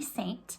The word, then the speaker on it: Seint: with um the company saint spelled s-e-i-n-t um it but pronounced saint just like the church and that's where it